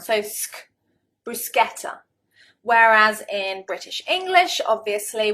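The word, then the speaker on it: bruschetta: rather strange expression and corrected my mispronunciation brusketa brusa the British I think probably 9 9 times out of 10 we'll pronounce it brushetta brushetta and of course it is a foreign word it's an Italian word I'll put a picture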